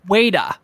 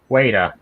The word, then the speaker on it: Weta: floor of the rings it's pronounced waiter waiter and everyone and they